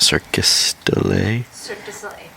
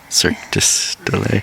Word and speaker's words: Cirque du Soleil: How do you say that? Circus delay? Cirque du Soleil.